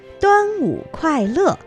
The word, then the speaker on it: 端午快乐: of protection and health.Quite right, except that your pronunciation needs to be improved. It should be 端午快乐 Happy Dragon Boat Festival.